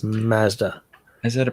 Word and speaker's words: Mazda: No, where Americans don't get it right is by mispronouncing Mazda. It's all Mazda. It's like no, it's not Mazda. It's Mazda.